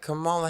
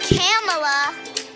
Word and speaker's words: Kamala: from some little friends it's not camella it's not kamala it's not canela it's kamala kamala harris